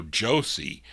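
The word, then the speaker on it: Joshie: as Joshi I will Josie I guess that's how you would pronounce Josie j-o-s-h-i-e Josie Armstead then in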